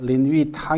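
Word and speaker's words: 林語堂: 있습니다 이 뭐 당 아 린 위 당 이라고 하는 그런 중국 발음으로 그렇게 합니다 아 이 이번 왕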